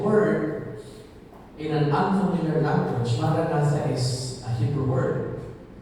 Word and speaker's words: Maranatha: is our official mantra, Maranatha. And we all know what it means. It means, come Lord. And we will repeat this silently, interiorly, as 4 equally stressed syllables.